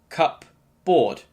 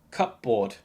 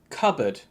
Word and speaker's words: cupboard: and pronouncing them separately cup board cupboard it should be pronounced cupboard cupboard no space to think in that broom cupboard as you can see we have another silent letter p a cupboard is a